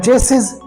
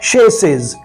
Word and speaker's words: chassis: आप कहेंगे इसका माना है चसेस जो कि गलत है। इसकी प्रोनाउंसिएशन है शेसेस।